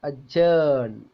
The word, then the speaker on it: adjourn: For example, the sound d is silent in words like adjourn, budget. കണ്ടോ? അതിന്റെ pronunciation നോക്കുക. adjourn, budget, budget കേട്ടോ, budget എന്നുള്ള ജ എന്ന ശബ്ദമാണത്.